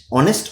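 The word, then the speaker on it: honest: ওকে চল প্রথম যদি দেখি অলরেডি রুলটা বলেছি যে ফিল ইন দা ব্্যাক বলছে হি ইজ ডশ অনেস্ট officer but not dash popular ওয়ান।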